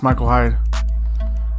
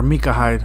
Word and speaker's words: Micah Hyde: to power up this Michael Hyde. Here we go. Here he is. Or Micah Hyde. I think that's how you say it. I always call him Micah Hyde. Michael Hyde. I don't know why.